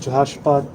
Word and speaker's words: Jehoshaphat: Almighty so let's talk about the valley of Jehoshaphat that's how you say it the well that's